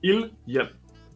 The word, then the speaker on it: Ildhjem: Volcano, which was that word that I didn't know how to pronounce. Idhium. Large. What was it? Sorry. Ilyum.